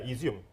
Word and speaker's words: Izium: Maybe Izium. Is that, am I pronounced right? That small town right here. Yeah, Izium.